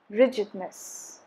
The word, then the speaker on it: rigidness: on the second syllable rigidness rigidness stresses again on the first syllable so rigid rigidness is no alteration of stress rigid rigidity stress shifts